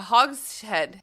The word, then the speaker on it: hogshead: hog A Hog's head Hog's head it's pronounced hogshead is a large Cask